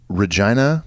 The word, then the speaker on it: Regina: I always feel uncomfortable saying Regina. I know it looks like Regina, like the woman's name, but there are cities around the country named Regina.